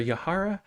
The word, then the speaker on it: Yahaira: Everyone, please put your hands together for Yahara Howry.